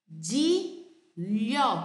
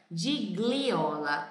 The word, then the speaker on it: Gigliola: Gigliola, como se fosse um LH. Ok? Sempre que você vê um GLI, pronuncia como se fosse um LH. Então, nós brasileiros, muitas vezes, pode ser até que você pronunciasse, né, de gliola, mas não é de gliola a pronúncia desse nome. A pronúncia desse nome é de lhó. Imagina que esse GLI seja um LH.